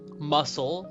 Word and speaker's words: muscle: Muscle, C is silent.